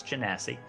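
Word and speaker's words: genasi: cuz I didn't know how to say it's Jessie uh his normal size and stature is not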